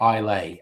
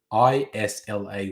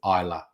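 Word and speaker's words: Islay: the iola scotches um it looks like eilee a i s l a y but the scots actually pronounce it eila looks like i lay but the scotch pronounce it isla that that's the heavily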